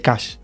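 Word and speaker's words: cache: es caché solamente que en irlanda la pronunciación de caché se dice cash y justamente bueno que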